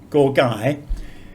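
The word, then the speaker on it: ก ไก่: And another confusing aspect of transliteration is that this character, gorgai, it makes the same sound that we would use for girl or gate or gorilla in English, that sort of hard G.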